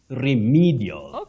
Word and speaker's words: remedial: is remedial medial no that e takes the long high front sound e REM remedial not remedial not remedial remedial remedial remedial I love